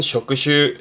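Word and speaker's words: 職種: 발음은 쇼크슈 쇼크슈 여기다가 앞에 하나 더 붙습니다.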